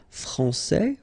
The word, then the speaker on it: français: Okay, so français, here you get this final S that you don't pronounce, so français, and then when you put this final E here, you will get française.